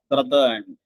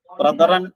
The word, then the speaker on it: brethren: പക്ഷെ അതിന് മറ്റൊരു പ്ലൂറൽ ഫോം കൂടി ഉണ്ട്, ബ്രദേൺ, brethren, ബ്രദേൺ. ബ്രദറൻ എന്നും ഉച്ചാരണമുണ്ട്.